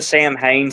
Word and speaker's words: Samhain: Halloween 2, and I still don't understand why everybody says Sam Hain, but it's actually Samhain. You know that? It's Samhain. Yeah, it's like an Irish Celtic thing or something, so that's why it's pronounced Samhain or with the letters.